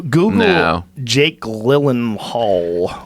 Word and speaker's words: Gyllenhaal: Jake Gyllenhaal. It's from- pronounced Gyllenhaal.